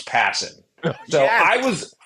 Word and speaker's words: Passan: I Well, Jake Jake just goes passing. It's like Yeah. Passan is is how it is most commonly mispronounced.